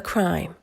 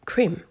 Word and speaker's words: crime: and investigation part we have the word a crime pay attention to the pronunciation it's not cream or cream but crime now we have a